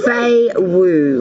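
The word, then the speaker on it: Fehu: Your ruin is pronounced Fei Wu, which means cattle or prosperity, Aries.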